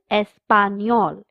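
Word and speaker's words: español: The third subject is el espanol Spanish. The n has a curly line on top so we pronounce it as nia.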